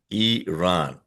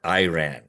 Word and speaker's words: Iran: By the way, folks, it is pronounced as Iran, not Iran.